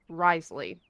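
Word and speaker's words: Wriothesley: the name is pronounced Riesly. You are actually the closest. Okay. Hey, cool. I'm sorry, what? Yeah. The name is officially pronounced Risley.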